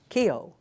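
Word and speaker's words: Keough: and and it's very it's a very interesting name ke OU GH I can go with a lot of pronunciations and and it is key oh yeah which really if you look at it it's probably the way it should be said okay but but I'm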